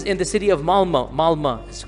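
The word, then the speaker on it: Malmö: Malma is it's is spelled with an O but is pronounced Malma.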